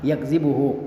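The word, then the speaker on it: يكذبه: Wala yakzibuhu, ini bagaimana membacanya? bi fathi ya'il mudhara'ah, yaitu dengan memfathah ya yang merupakan huruf mudhara'ah, yakzibuhu, wa takhfifiz zal, dan juga dengan ya meringankan zal, tidak mentasydidkannya. Zal yang maksurah, jadi dibaca wala yakzibuhu, dibaca wala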